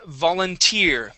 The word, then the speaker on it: volunteer: Uh next word is volunteer. Okay. Stress at the end of the word.